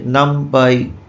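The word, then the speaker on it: NumPy: তো অনেক additional library আছে, নামপাই, নামপি, পাইগেম, প্রোনাউন্সিয়েশন এক একজন এক এক রকম করে থাকেন, পান্ডাস, ম্যাটপ্লট, এলআইভি, ফ্লাস্ক, এটসেট্রা।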